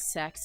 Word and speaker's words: CEX: Yeah, it's called CEX and it's it is pronounced as sex technically in their ads and stuff.